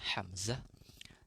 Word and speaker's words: Hamzah: kelima Imam Asim, yang keenam Hamzah pakai ha ya bacanya Hamzah, yang ketujuh Al-Kisai, kedelapan Abu Ja'far, kemudian yang kesembilan Ya'qub, yang terakhir adalah Khalaf Al-Ashir ya.